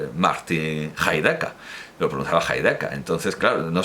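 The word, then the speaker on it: Heidegger: valde casas ni reactor siempre pronunciaba heideca porque así es como pronunciaba su nombre Martin heideca Lo preguntaba entonces claro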